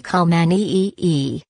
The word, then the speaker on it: Khao Manee: Rijam o gato Khao Manee, pronuncia se Khao Manee e uma raza rara de gato de Thailandia que nos faz regressar centenas de anos atrás.